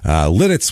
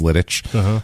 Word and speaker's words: Lititz: This is it's named after a castle which had the Czech name of Litice was how it was said, so it's somehow pronounced, I guess that's why I think it's Lititz. I'm pretty sure.